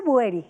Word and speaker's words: Boueiri: Se pronuncia Boeri. Boeri.